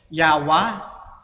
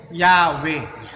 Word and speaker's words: Yahweh: Actually nga, maraming bigkas yan, yung mga Bible scholar. Merong Yawa, Yewa, Yahweh, Yahweh. Yowo, o marami pa, yung pang Yewo, marami po silang bigkas. Pero mas nanaig dito na pinakamalapit, Brother Lino, yun pong Yahweh.